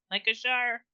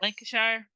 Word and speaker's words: Lancashire: Lancashire? Yes. Lancashire?